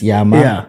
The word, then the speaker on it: Tshiama: as I was saying, pronounce it the way it should be pronounced. The way it should be. Yeah. I don't even know, should I say Tshiama? Wait, in Congo they call me Tshiama. Yes. Tshiama. I have an appreciation for the way names should be pronounced. So it's Tshiama. Tshiama. It's not Tshiama. No, it's Tshiama. Okay.